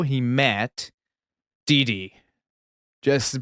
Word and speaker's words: Dee Dee: is how he met Dee Dee. Just You gotta say it like Dexter from Dexter's Laboratory.